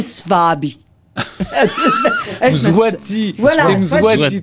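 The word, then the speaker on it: Mswati: Swabi, je sais pas bien prononcer. M. Swabi. Zwati, voilà, Zwati 3.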